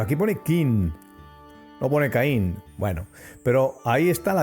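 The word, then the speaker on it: קין: Así, llegamos a la conclusión de que aquí se escribe la K, la rayita, que es la pataj, la I y la N, que dice Caín.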